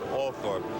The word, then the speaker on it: Althorp: At the gates to Althorpe House, and here in this village, they do pronounce it Althorpe, there are a couple of hundred people gathered, and along the way, perhaps a couple of hundred more.